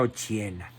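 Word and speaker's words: Occhiena: se llamaba Margarita Ochiena, con doble C, se pronuncia Ochiena.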